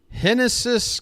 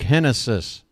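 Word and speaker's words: Génesis: happen henis Cabrera is on the mound a lefty for the Blue Jays it's spelled like genesis it's pronounced like henis and speaking of Genesis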